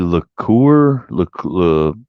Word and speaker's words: Lecouer: No, Terry LeCoeur.